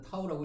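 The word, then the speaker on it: τ: 읽을 때는 타우라고 읽어 주면 되고요 돌림힘은 힘의 크기에다가 거리값을 곱해 준 값으로 우리가 나타내 줄 수 있는게 바로 돌림 힘이야.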